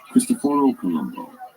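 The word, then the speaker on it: Cristoforo Colombo: about names and pronunciation see Christopher Columbus's name was not actually Christopher Columbus his name was actually as best as we know christophor Columbo and Prince Henry the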